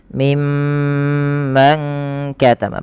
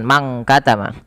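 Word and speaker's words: مِمَّنْ كَتَمَ: Pada lafal mim ma tahan dulu bunyi suara mimnya karena ia ee maaf bacaan gunah. Jadi cara membacanya menahan dengan bunyi suara mimnya ditahan mimman katama. Padahal fal man katama ini ikhfa hakiki. Nah, ini tidak dibaca dengan mang katama tapi disamarkan kepada huruf kafnya. Jadi ikhfanya itu menyamarkan nunnya kepada huruf kaf.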